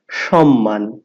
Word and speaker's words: সম্মান: কিন্তু সম্মান হবে না এখানে কি দন্তন্য আছে দুটোই ম একটা মর সাথে ম ফলা যুক্ত হয়েছে তাহলে দুইবার মরণ আমরা সম্মান আমি আবার বলছি সম্মান তো আশা করি আমরা